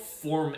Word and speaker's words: Phorm: It's called Form Energy. It's spelled PHORM.